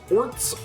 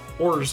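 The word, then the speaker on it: orz: There's no set way to pronounce it. People may pronounce it as orts, ors, or ors. Ors. I say ors.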